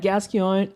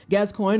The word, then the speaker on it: Gascoigne: great i feel like gaskion oh my god i said it wrong for the first time in like a long time gascoigne is one of those